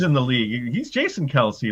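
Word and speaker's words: Kelce: anybody see this travis kelsey thing where he's all of a sudden saying that his his name is actually pronounced kels oh jesus i tell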